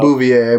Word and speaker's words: Bouvier: Yeah, I'm just going with like the Bouvier, I believe. Yeah, I was going with the Simpsons pronunciation because that's Marge's last name before she married Homer.